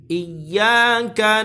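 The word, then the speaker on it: إياك: Perhatikan di situ ada tasydid pada huruf ya. Ketika ada ya yang ditasydid atau huruf apapun yang ditasydid tidak boleh dipanjangkan kecuali kalau dia idgham bi gunnah. Ini tidak ada idgham bi gunnah di sini. Ini hanya ya yang ditasydid. Jangan terlalu lama di sini. Yang boleh lama hanyalah gunnah musyaddadah yaitu nun dan mim yang ditasydid saja.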